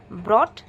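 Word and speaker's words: brought: তাহলে আমি দুটো জিনিস দেখলাম, ব্রট অ্যান্ড বট, দুজনের কিন্তু মানে আলাদা, স্পেলিং আলাদা, প্রোনাউন্সিয়েশনও আলাদা। কান খুলে সুন্দর করে শুনতে হবে, ওটা ব্রট বলছে না বট বলছে। ব্রট বললে আর থাকবে, বট বললে BOUGHT হবে।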